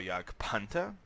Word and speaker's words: Jagdpanther: me say pant or yag panta or in future videos tigga but that's how you pronounce it in German so anyway um now